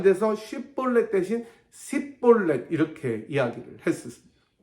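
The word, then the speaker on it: 쉽볼렛: 섞여서 쉽더라 이렇게 되는 건데 에브라임 사람들은 h 발음이 안 돼서 쉬폴레 대신 싯볼넷 이렇게 이야기를 했었습니다 마치 의가 안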